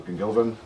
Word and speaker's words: gwmngilfen: I am also known as gwmngilfen. So there you go. That's how you pronounce it.